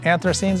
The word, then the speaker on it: anthocyanins: uh I think red cabbage is also has anthocyanins in it. Is that the way I'm pronouncing it, right?